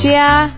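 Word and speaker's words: 家: plus plus represents a window frame and it's pronounced as Chia which can also mean home in Chinese discover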